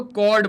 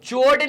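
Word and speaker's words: chord: आप इसे कॉर्ड कहेंगे। ठीक है? इसका उच्चारण " चोरेड" नहीं है।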